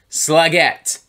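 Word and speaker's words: Slægt: And before somebody gives me shit, the band themselves told me that their name is pronounced Slagette.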